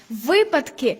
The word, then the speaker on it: випадки: як українською по-перше друже випадки випадок як випасти наголос на першому складі А по-друге які слова